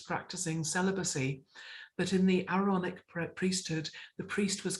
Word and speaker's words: Aaronic: be pronouncing it right, the Aaronic priesthood, not ironic, but Aaronic priesthood, are expected to be good husbands and fathers.